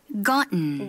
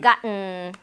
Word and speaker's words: gotten: 우리 같이 발음 연습 좀 해보도록 하겠습니다. written, written. certain, certain. gotten. gotten.